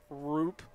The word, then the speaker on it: Roop: It's Roop with a long U, Minnick. And Klaus like house just so for future.